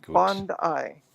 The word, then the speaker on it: Bondi: goodwick it's named after the beach and it's pronounced Bond ey thank you I know language on my stream